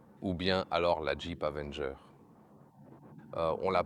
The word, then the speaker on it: Avenger: J'ai également appris que pour le mot Avenger, la lettre R se prononce différemment en anglais britannique et en anglais américain.